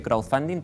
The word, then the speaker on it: crowdfunding: 2 semanas entender que crowdfunding tiene una D. ¿Que tiene una? Una D, entre medio de la palabra. Ah, me costó, claro. Sí, es una palabra difícil. Pero no se pronuncia, Crowdfunding.